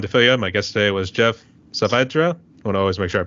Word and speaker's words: Geoff Saavedra: here and everyone toil my guest today was Jeff savra want always make sure I pronounce it right so I have always look